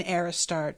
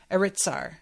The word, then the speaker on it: Aritsar: I would trade all the wealth in Aristar to be held. Aritsar. Sorry, I keep saying it wrong.